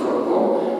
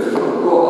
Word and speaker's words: Франко: До речі, наголос тепер, тому що в радянський час був наголос Франко. Натурально його називали Франко. Франко і так він це знав і в своїх творах. По наголосу Франко, але Генералісимус Аустину Франко, лідер іспанської нації, то вони змінили наголос.